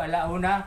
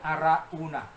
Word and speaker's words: Arauna: sa giikan ni araona hindi po alauna kundi arauna arauna ano po ang ang